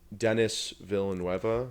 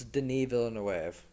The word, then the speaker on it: Denis Villeneuve: Dennis Villanueva. Yeah. Is that how you pronounce his name?